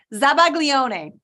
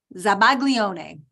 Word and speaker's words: zabaglione: wow I just got totally into it um zabaglione I would like a definition for that please